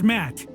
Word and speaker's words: Matt: not an inch less the name's matt the second t is silent sure sounds like an